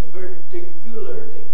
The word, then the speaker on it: particularly: well when he said not on the first syllable but on the second and then even with his indian accent if he said particularly particularly i'd have understood